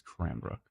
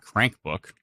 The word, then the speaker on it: Cranbrook: l-i-s-t-o-w-e-l that's right and it's crambrook okay towards Cranbrook and not crank book I am rook and